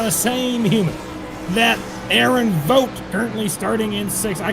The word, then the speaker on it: Vote: same human that Aaron vote currently starting in six. I can't pronounce his name 100% right. Vote is correct. V O T E spelling is how it's pronounced.